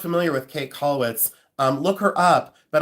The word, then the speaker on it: Käthe: It's k a t h e. Um They say Kath, but it's um Kate. A lot of people say Kate. But it's um Käthe Kollwitz.